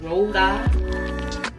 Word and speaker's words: RoSa: Now, so it's pronounced RoSa.